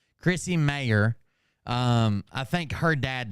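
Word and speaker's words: Mayr: jump around some yeah it is Chrissy mayor but it's spelled m a y r Chrissy mayor um I think her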